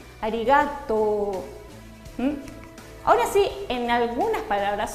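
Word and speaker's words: ありがとう: Por ejemplo, esta palabra que todos conocemos que es gracias, es arigato. No es arigato. Arigato.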